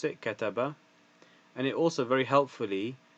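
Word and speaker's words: كَتَبَ: So first it will give you the Arabic and then how to pronounce it, kataba.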